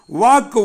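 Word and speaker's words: walk: 3 பாருங்க வாக் நடத்தல் வாக்கு வாக்டு வாக்டு வாக்கிங் வாக் w எல் கே இதுல அந்த எல் உச்சரிப்பு இல்ல வாக்கு இக் தான் எல் சைலெண்ட் அதோட ஈடி சேர்த்துனா நமக்கு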